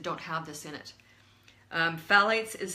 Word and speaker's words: phthalates: use them lately then you've exposed yourself to Thalys and these are in their very prevalent in plastics and let me spell it for you I'm sure once you see